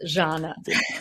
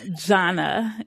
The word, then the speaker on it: Zhanna: It's Zhanna. Zhanna.